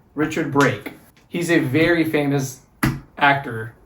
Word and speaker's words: Richard Brake: and it's the cop in the restaurant is Richard Brooke? How do you say that? Richard Brake. Richard Brake.